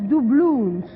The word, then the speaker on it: doubloons: Et en anglais, apparemment, ça se prononce doubloons.